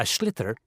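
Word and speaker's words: sliotar: this ball called a schlitter that's s IO t a or so it's not spelled the way it's pronounced you hit it into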